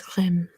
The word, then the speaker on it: crème: So how I would say it, it is crème.